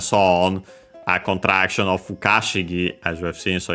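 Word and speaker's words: 不可思議: Fushigi is unaccented on its own, despite the accent of Fukashigi, so be careful, which is accent on the Ka.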